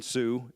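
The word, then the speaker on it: Sioux: um a little Community called Sue North Carolina spelled like the Indian name s IO ux and uh when let's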